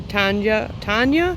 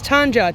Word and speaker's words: Tanja: And this is that volunteer Tanja. It's Tanja, T-A-N-J-A is how it's spelled, from Jung Seeds.